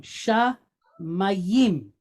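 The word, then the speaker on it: שמים: So sha mayim, sha mayim.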